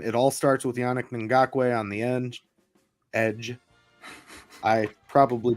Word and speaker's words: Ngakoue: It all starts with Yannick Ngakoue on the edge. I probably butchered his name as well, but No, you said it right.